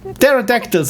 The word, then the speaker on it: pterodactyl: thank you so much i believe the p is not pronounced thank you again fred it's pterodactyl and i always want to say pterodactyl yeah the p is silent because of course i